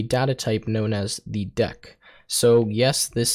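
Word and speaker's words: deque: Otherwise, I was going to go through this whole video saying DQ. Anyways, uh, deck is the proper way to say this word.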